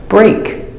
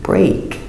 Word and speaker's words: break: look at each word example break using the long a break and steak AE but